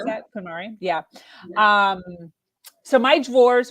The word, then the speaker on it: KonMari: Is that how you pronounce that? KonMari?